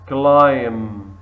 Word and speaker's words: climb: silent for example here number one climb climb silent B SE SE evening evening